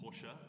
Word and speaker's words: Porsche: Uh, and one of the cars is is like a, you know, like a Porsche, a Porsche. I learned that recently is how you pronounce that name.